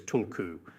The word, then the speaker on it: tulku: The authentic Tibetan pronunciation of this word is tulku.